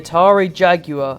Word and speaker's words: Atari Jaguar: The Atari Jaguar, and yes, that is the correct way to pronounce it.